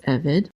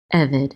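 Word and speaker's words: עֶבֶד: evid and um um the accent is going to be on the first single the first syllable usually when there are two cycles side by side the first one gets the syllable not the second one evid and evid means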